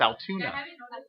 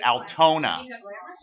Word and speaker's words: Altona: No, it's Altoona. We have a place it gets confused with Enola. It's Altona. So Altona, Manitoba.